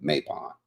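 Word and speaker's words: Mabon: I'm pronouncing my last name. Map.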